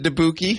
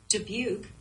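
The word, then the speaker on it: Dubuque: going to be wait your GPS pronounced it deuki yeah I was passing through because we were coming like through Chicago and debuk was like the first big thing I think for a while and it said deuk and I thought that was wild maybe we've been mispronouncing it the entire time Julian deuki oh my Siri says it right here hang on debuk she knows it do you have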